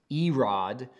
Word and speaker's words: Irad: um irad uh a-i-r-a-d is pronounced e-rod in the hebrew uh and then the